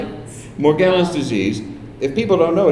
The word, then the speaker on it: Morgellons: does she thinks she has that disease right more more gallons how do you say it Morgellons disease if people don't know it's a disease